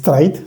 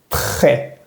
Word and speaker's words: trait: Por ejemplo, en la palabra trait, que no sé si es trait, sino très, très. Recordemos que la T al final no lo vamos a pronunciar.